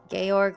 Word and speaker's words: Georg: Is it pronounced Georg when it's George with no E? Georg. We're going to say Georg. I hope that's right.